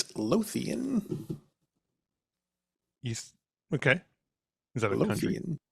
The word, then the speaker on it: Lothian: That's how they probably pronounce it. Lothian. Yeah. It's Lothian. Secret is to not move your mouth at all when you say it, and then you're like, "Oh, that's the Scottish way to do it." And then choke a little bit.